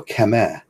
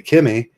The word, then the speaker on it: Camus: And that's like, say, when I say Camus. In French, they would go Camus. And that's when I say Kimmy, that's what I'm talking about.